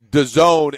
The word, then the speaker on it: DAZN: within the NBA that could be partnering with DAZN, is how it's pronounced, DAZN, which is an app, a viewing app of different things, different more niche sports.